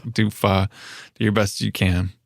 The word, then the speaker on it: pho: Especially ones that, you know, imply that pho rhymes with show. Or that it's pho. Yeah. Oh, yeah. That is my biggest pet peeve. It's pho. It's not faux.